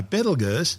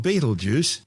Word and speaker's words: Betelgeuse: Commonly called Betelgeuse, don't say it 3 times, its name has been tortured through centuries of mispronunciations. It originally started as Betelgeuse, meaning the hand of the big man in Arabic, the big man being Orion the Hunter.